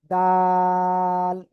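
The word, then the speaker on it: دال: নাম হল দা যেগা উপরের দুই দাতের গোড়ায় লাগান লাগিয়ে আপনি এটা তিন আলিফ টেনে উচ্চারণ করেন দাল তাল প্লিজ একটু সবাই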